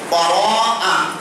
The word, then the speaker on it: বারাআ: কিন্তু ওই বরাত আর এই বরাত কিন্তু এক নয়, উচ্চারণের ভুল হওয়ার কারণে এই বরাতের সাথে মিলে গিয়েছে। তাহলে আসলে সবে বারাআ, বারাআ শব্দের অর্থ হচ্ছে মুক্তি, মুক্তির রজনী।